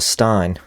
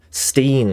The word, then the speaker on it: Stein: Stein, is it pronounced Steen or Stein? I always wonder, and I never think to ask. Steen, right, there we go. Not like Frankenstein.